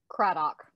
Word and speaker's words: Craddock: I'm Dr., and I am excited to have Maggie Craddock. Did I say it right? Craddock.